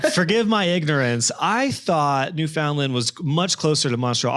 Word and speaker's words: Newfoundland: It's called Newfoundland, like, understand. That's how you pronounce it.